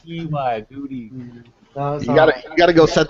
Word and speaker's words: Guti: It's not like Gotti, like an Italian name.